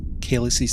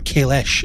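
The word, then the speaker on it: Kahless: But yeah, it makes sense that they would use bows and arrows in Kaelis's time, or Kaelish as we now pronounce it.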